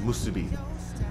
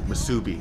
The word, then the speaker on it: musubi: And by the way, it's pronounced musubi, not musubi. I got chastised for that, by the way. Everybody in Hawaii is very particular about how you say shit. I'm not allowed to say musubi.